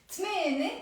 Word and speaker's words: ثمان: ثمانية is a bit easier to pronounce. ثمانية, 8. I drop the ت مربوطة and I drop the A sound with it.